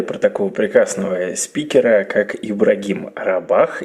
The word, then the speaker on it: Ибрагим Рабах: Вот как-то раз мне рассказали про такого прекрасного спикера, как Ибрагим Рабах, если я сейчас правильно все с ударением сказал, поправь Все меня. верно.